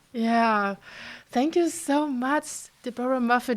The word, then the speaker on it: Deborah Muffet: thank you so much Deora muff do I even say your your name correct yes you do thank you yes you oh great de mu okay so it's exactly how it's spelled great yes well thank